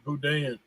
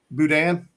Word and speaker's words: boudin: like brad's saying it boudin boudin yeah what i've always pronounced yeah you gotta leave the end though you gotta leave the end off the end is silent through that what is